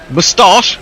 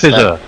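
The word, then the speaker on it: Mustafizur: It said, "It's been marvellous listening to Tony Bishop trying and failing to pronounce Mustafizar. We've had Mustafiz, Mustafa, Mustafa, Moustache.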